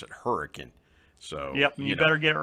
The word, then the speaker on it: Hurricane: we have hurricane but we don't pronounce it hurricane we pronounce it hurricane so you better get it right that's exactly